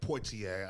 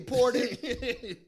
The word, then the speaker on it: Poitier: Good job on pronouncing his name right. Yeah, Poitier. I know I was practicing now because I would have fucked that one up. Sidney Porter.